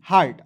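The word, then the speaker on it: heart: देखिए इ ए है तो जब दो वोवेल एक साथ रहते हैं तो कभी-कभी ये साइलेंट भी हो जाते हैं। तो इ को साइलेंट कीजिएगा। ए से आ की मात्रा टी का ट लिखेंगे और आर को यहां पे रेफ लगा देंगे। हो जाएगा एच ई ए आर टी हार्ट।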